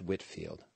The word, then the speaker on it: Whitefield: his name was George Whitfield so it's spelled Whitefield pronounced Whitfield he had been preaching